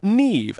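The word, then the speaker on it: Niamh: County DA or Lim the name is pronounced Neeve and therefore rhymes with achieve and using that logic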